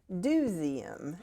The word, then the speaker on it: Do!zeum: And I'm happy to say that we have officially rebranded to the Highlands Duseum. And that is spelled D O exclamation point ZU M.